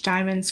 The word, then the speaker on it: Diamyn: I've known you over 20 years, everything that Diamond is saying like she's lived by like and